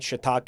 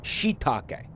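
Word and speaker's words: shiitake: The the two eyes is so you pronounce it with a like a long I sound, right? Shitake. Am I right?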